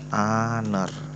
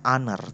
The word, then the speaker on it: honor: Cara bacanya honor. Kalau biasa itu dalam film-film bisa it's been an honor. Google Voice mendeteksi an honor, padahal sir bacanya honor tanpa h.